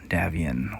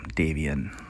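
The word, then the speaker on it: Davion: with House Kurita and House Davian, or Davian, however you want to pronounce it.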